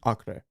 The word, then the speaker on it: Acre: It's spelled Acre, but it's pronounced Acre.